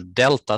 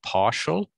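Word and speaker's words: ∂: a partial derivative and this little delta thing is sometimes pronounced del and sometimes partial so del z over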